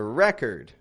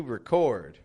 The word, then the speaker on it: record: let's see this other one here again a record to record we're going to record a record record record